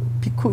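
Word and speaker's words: bhikkhu: 제가 요 비구들이요 요 한문으로 해석해서 이제 한문적 해석의 발음이 비구입니다. 사실은 비쿠입니다. 비쿠인데요. 비쿠 이런 게 아니고 약간 쉬고 쿠입니다.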